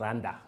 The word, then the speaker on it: R&A: And it's pronounced as Randa, R&A, but R-A-N-D-A, like Randa.